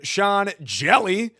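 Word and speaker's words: Sean Hjelle: Sean Jelly. The H is silent sinker cutter combo with the knuckle curve.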